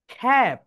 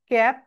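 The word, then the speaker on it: cap: সি, খা, অ্যাপ, খ্যাপ। আমরা মাথায় যে টুপি দেই না, তার ইংরেজি হচ্ছে ক্যাপ, কিন্তু এটা রাইট প্রোনাউন্সিয়েশন হবে খ্যাপ। সবাই একই সঙ্গে, খা, অ্যাপ, খ্যাপ।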